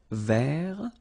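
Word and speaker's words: vert: Rouge remember rou so masculine form don't pronounce the final t ver feminine form ver so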